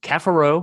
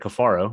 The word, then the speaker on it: Cafaro: uh he's got Francisco Cafaro We Now call him uh instead of coffaro he went five years almost five years and had us mispronouncing his name that's just silly but he's kafaro now um it has been